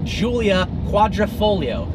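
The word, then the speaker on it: Giulia Quadrifoglio: person gets wrong so first up is the latest offering from alfa romeo not called the wila quattroporte it is called the Julia quadrifoglio quadrifoglio actually means four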